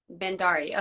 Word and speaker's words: Bhandari: I'm not sure if I pronounced your name correctly. Could you say it for us? Bhandari.